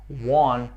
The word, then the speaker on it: won: O passado de win é won. Won, que tem a mesma pronúncia do número 1. Won. São palavras homófonas. Won. Exatamente o mesmo som.